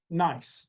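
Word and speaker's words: gneiss: So granite becomes nice. That's the way we pronounce it. Nice.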